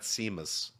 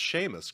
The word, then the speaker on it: Seamus: that'd be shameless greg not seemas if you're really irish it's seamus though no it's production it's pronounced sheamus greg i'm not going